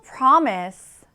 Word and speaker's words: promise: 선이 발음하는 걸 잘 들어보면 지금 강세가 어디 들어 있어요? promis. 네. 앞에 있습니다. 앞에 강하게 강세를 드시면 돼요.